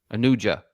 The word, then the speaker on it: Anuja: Anu how do you say that Benji anua Anuja Anuja I'm going Anuja this is interesting actually